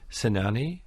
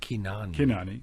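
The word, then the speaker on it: Cynane: his name wrong too sanani actually i i think in greek it would be kinani that's right um have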